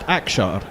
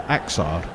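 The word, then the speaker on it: Axar: Which is why it's pronounced Akshar as opposed to Aksar.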